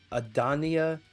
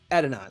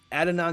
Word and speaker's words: Adonai: I want to say that's how that's pronounced. Offensive tackle out of BYU. Eagles are planning to get Adania Mitchell, wide receiver. Is it Adania Mitchell out of Texas, wide receiver out of Texas? Oh, Adonai.